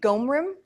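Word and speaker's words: gom rim: it's so strange okay can you say ghom room it's g om r IM for those of you that are writing down the tibetan gum room one more time and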